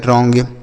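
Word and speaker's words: wrong: आया ना समझ में डब्ल्यू आर ओ एन जी तो डब्ल्यू साइलेंट होता है बच्चों यहां आर ओ एन जी हो गया रॉन्ग क्या हो गया रॉन्ग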